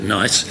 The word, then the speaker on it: NICE: the acronym and then decided that it was unpronounceable and everybody still called it NICE, so they've left it as being called NICE.